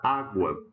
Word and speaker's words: água: Ou mesmo a palavra água. Olha como que a gente separa a sílaba de água. Ela tem um ditongo na última sílaba, mas a forte é a penúltima, tá certo?